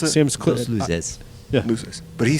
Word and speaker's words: Luces: Dulces. How did he pronounce it? Sam's Los Luces. Yeah. Luces.